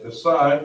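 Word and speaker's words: כָּסָה: So we have kasa, spelled out ka, sa, ha.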